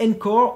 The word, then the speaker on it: Anchor: Et enfin, le dernier tweak que je vous présente est Encore ou Anchor prononcé à la française.